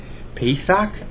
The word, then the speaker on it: Pesach: Pesach is spelled P-E-S-A-C-H, and it is Passover in Hebrew.